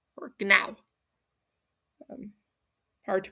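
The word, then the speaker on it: Gná: Gana or gana is um her name means to soar or tower over and also phonetically comes out a lot like the nang of a horse. So, gana or gana.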